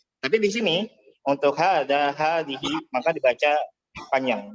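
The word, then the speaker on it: هذه: Ada hadhihi. Ya, jadi secara pengucapan ada alif setelah H, tapi secara tulisan tidak kita tulis.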